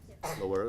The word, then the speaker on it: Loera: So is it Loera? Loera is correct.